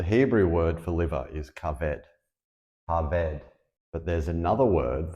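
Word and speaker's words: כבד: Well, the Hebrew word for liver is kaved. Kaved. But there's another word that's spelled with the same letters, and it's pronounced kavod.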